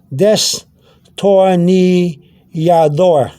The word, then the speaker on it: destornillador: It's a D with a slight TH sound. So you could say destornillador, if you want to say it that way with the D-O, or you can say destornillador.